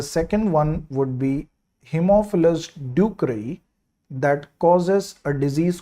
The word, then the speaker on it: ducreyi: D for ducreyi you got to remember, and pronounce this word like this: patients do cry.